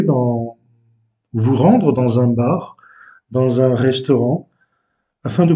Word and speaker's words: bar: Mais en portugais, on roule légèrement le R à la fin, bar.